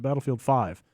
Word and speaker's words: Battlefield V: But it sounds like currently, although it's maybe subject to change, the eventual name will be, I guess you pronounce it Battlefield 5, but they're spelling it Battlefield V.